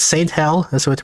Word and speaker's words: STHELL: So you might think it's like stell, but the font here implies that the ST part is separate from hell.